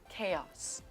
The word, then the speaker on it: chaos: Ch is actually pronounced in this case as k, k, k, k.